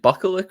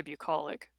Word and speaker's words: bucolic: for game five I is it bucklick or bukic how do you pronounce that word I've never heard it spoken I said I say bucolic bucolic that makes sense